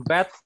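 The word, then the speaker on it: בית: Then Beth will give B, B sound. Beth. Beth. B. Beth. Bet. And with w. Bet. W. W. Yeah. Bet b in English translation b in bat and v in vat.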